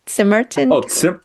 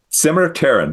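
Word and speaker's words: Simmerterran: Was when you're like, let me show you the history of how do you say it? Simmerton? Simmer-Terran. There's a T in front of the S.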